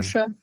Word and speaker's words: Saoirse: I don't even know how to pronounce this. Saoirse? Saoirse? Yeah. Ronan. Saoirse.